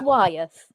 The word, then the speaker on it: Wyeth: Yeah, well, you started with a W, so that's a bonus. It's Wyeth. Not Wyeth.